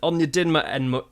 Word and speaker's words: Onyedinma: Onyedinma error, that's how you say it.